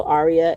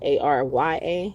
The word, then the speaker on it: Arya: Leo, Arya, Arya, like on the show Game of Thrones.